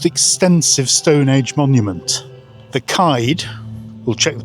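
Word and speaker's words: Céide Fields: We're standing in the world's most extensive Stone Age monument, the Clyde. We'll check the pronunciation. It's actually pronounced Cager Fields.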